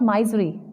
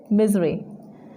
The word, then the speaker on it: misery: it's synonym is misery many people call it my Zuri but it is misery last but not least